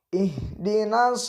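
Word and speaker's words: اهدنا: kita lanjutkan at selanjutnya ihdinas tolol tolol mustaqim ihdinashirotolmustakim ihhhh disini hak besar cewek hak-hak bukan hate jadi ihdina dan juga membacanya Jangan dipantulkan kalau dipantulkan salah contohnya ih ih hedina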